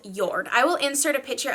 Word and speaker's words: Jord: Actually, it's pronounced Jord. I knew I was going to screw that up. It's spelled J-O-R-D, but it's called Jord.